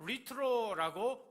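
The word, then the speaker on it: λυτρόω: 원어로 리트로라고 발음을 하는데요, 값을 지르고 풀어주다, 몸값을 주고 자유롭게 하다, 속박에서 해방시키다, 이런 의미가 있습니다.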